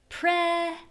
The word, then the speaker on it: present: We have pre present present.